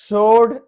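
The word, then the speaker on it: sword: सोर्ड, तलवार होती है, सोर्ड, डब्ल्यू साइलेंट है।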